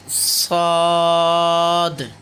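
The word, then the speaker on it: ص: উচ্চারণের দিক থেকে খেয়াল করতে হবে, সিন। তারপরে হলো শিন, এটাও তিন আলিফ, শিন। সদ, সদ। খেয়াল করতে হবে মনোযোগ দিয়ে, সদ।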